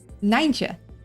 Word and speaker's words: Nijntje: Nijntje. So it's a little confusing. In Dutch, when we put an I next to a J, it is a I sound.